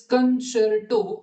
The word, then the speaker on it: concerto: So 13 मध्ये libretto is pronounced libretto, libretti is libretti, libretti, concerto is concerto, and concerti is concerti, right?